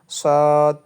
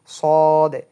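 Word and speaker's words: صاد: যদি আমরা বাংলাটা পড়ি ঠোট গোল করে উচ্চারণ হবে শুনতে শোনা যাবে সদ এই আমাদের কিন্তু উচ্চারণটা করতে হবে এইরকমভাবে সদ সদ সদ সদ সুতরাং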